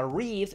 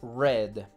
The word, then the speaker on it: read: que tiene una particularidad en presente se pronuncia read y en pasado y participio que después te diré que es eso es red Okay como el color rojo entonces esos son unos